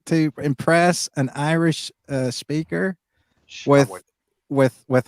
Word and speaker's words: Samhain: most people call it Sam Hain, but it's not a Shawan.